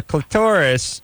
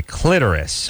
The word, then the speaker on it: clitoris: Your clitoris, or as my grandmother would say, clitoris. We've gotten into many arguments over this. Turns out you can pronounce it both ways.